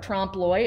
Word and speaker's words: trompe l'oeil: So the whole premise of this is actually what's called trompe l'oeil. And that's how you pronounce that weirdly spelled word there, trompe l'oeil. It's a French term.